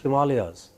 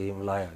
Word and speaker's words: Himalaya: tahe and you know the great himalayas they are pronounced as himalaya i feel like killing them when they say him liar you know or ganga